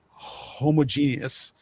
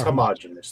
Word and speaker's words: homogenous: They're all about making everything homogeneous as far as from one type of platform or I think medium. it's homogenous. It's homogenous. That's okay. Sorry. Oh. You're putting the emphasis on the wrong syllable.